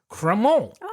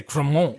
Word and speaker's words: Crémant: good example too called kremol and it's spelled cremate but I say Cromwell because I'm trying to say it in the French so like proper you're